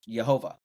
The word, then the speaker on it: Jehovah: And then when you add in the vowels that were added in ancient Hebrew, it's pronounced Jehovah.